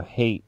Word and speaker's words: Haight: I know Hate Street isn't spelled like hatred, but... H-A-I-G-H-T.